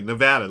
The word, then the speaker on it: Nevada: You said it right. Not ah. Thank you, Nevada.